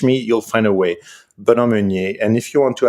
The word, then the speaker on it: Benoit Meunier: For those who have an Anglo ear like me, it's BenoitMeunier. The terrible Anglo way to pronounce that is Benoit Meunier.